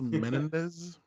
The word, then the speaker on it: Menendez: It's pronounced Menendez.